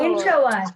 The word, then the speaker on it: introvert: Introvert. Introvert. Very good. Yes. Introvert. And the stress is on which syllable in introvert? In. Syllable. In. Yes, introvert.